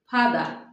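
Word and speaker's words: father: ফাস্ট বাবা ফাদার ফাদা আমরা অনেক সময় ফাদার বলি। অনেকে ফাদার বলে কিন্তু উচ্চারণ হবে ফাদা।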